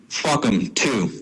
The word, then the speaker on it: PHUCOM2: So that new acronym is PHUCOM2, and that is pronounced fuck 'em 2.